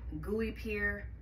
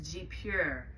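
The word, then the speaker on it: guipure: might see that and call it gooey peer G up here with her but that actually correct pronunciation I think is G pure laces so that's these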